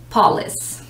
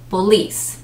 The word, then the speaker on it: police: i've dealt with before normally people put the emphasis on the first syllable they read it as paulus but no that is incorrect so you would say police the emphasis the stress of the syllable is on the second one not the first so police police and